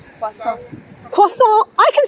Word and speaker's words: croissant: Croissant. Croissant? I can say croissant. You're not saying it right.